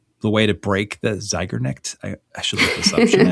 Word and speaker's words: Zeigarnik: It's Zeigarnik.